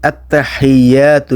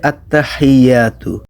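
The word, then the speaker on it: التحيات: করি, প্রথম লাইনটা দেখেন, আত্তাহিয়াতু লিল্লাহি ওয়াসসালাওয়াতু ওয়াত-তাইয়্যিবাত। তো আমাদের প্রথম ওয়ার্ডটা হচ্ছে আত্তাহিয়াতু। এখানে হা হচ্ছে লম্বা হা। লম্বা হা উচ্চারণ করতে হয় গলার ভেতর থেকে, মুখ দিয়ে না।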